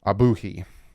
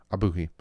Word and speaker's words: Ogbuehi: also signed tackle Cedric abuhi that's who you pronounced his name I looked that one up because you look at it and you're like excuse me abuki is his name so the dolphins go